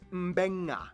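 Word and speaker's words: Beqa: makes the nd sound, B makes the mb sound. Both Q and G make the ng sound. Therefore, the town of Nadi is actually pronounced Nandi. And this word is pronounced Mbenga.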